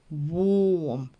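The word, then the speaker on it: warm: пишемо а вимовляємо о тому коли ви побачите літеру a поруч з літерою р ось це значення вони завжди будуть читатись як довге о вом теплий наголошений бік dictionary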